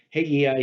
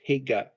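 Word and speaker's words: Hegai: There's another word that's spelled 2 different ways. You'll see it pronounced Haggai here, and you'll see it also as Hega, Hega, without the I.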